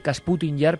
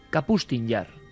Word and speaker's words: Kapustin Yar: Yo he dicho siempre Kasputin Yar, pero es Kapustin Yar. Con estas cosas rusas ya Sí. se sabe que las pronunciaciones... Tú que manejas el cirílico. Kapustin Yar, ¿no?